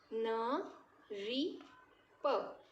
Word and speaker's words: नृप: अब ये आप इसको कैसे प्रोनाउंस करेंगे? री की तरह प्रोनाउंस करेंगे, ठीक है। इसका उच्चारण कैसे होगा? री, र नहीं, री, ठीक है। न री, नरी, प, नरिप।